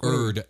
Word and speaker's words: Urd: Is that spelled like herb? Like Urd, U-R-D. So no silent H on that bad boy? No. If we were British, we would say herd. No. I'm just kidding. No, it's just Urd.